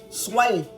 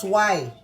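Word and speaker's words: swai: Gonna be baking some butter lemon, whitefish, pronounced sway, and I think I'm pronouncing that right, S-W-A-I, okay?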